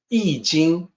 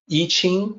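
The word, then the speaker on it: 易經: the top two characters that you see here ee jing what people mistakenly pronounce as iching or iqing sometimes the concept of gray eloquence predated the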